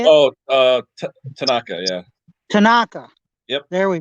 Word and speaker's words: Tanaka: Oh, Tanaka, yeah.